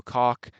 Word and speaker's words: Koch: Then you have Nico Koch. Yes, that's how you pronounce it.